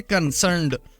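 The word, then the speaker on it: concerned: ہے تازہ۔ کنسرنڈ، دوستو کنسرنڈ میں آپ دیکھیں تو آر سائلنٹ ہے، اس میں آر نہیں بولا جاتا، اس طریقے سے بولیں گے کنسرنڈ، اور اس کا مطلب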